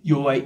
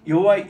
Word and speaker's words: 여호와: 이게 Y 발음이 없습니다 그 J 발음을 차용해서 이게 여호와라고 읽습니다 요를 읽을 때는 여호와